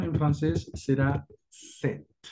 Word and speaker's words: sept: La pronunciación en francés será set, set. La P por alguna razón no la pronuncian.